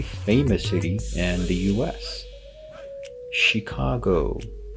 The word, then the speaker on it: Chicago: and the US Chicago now some students might be tempted to say Chicago because they see a CH at the beginning and it's usually when a word has CH it will be pronounced with a cook sound or a sound here